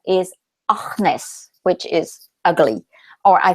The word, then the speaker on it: AnYes: And English people say Agnes. And so, you know, I would arrive in a workshop or whatever, and I would present myself, and I would immediately say to be pronounced AnYes.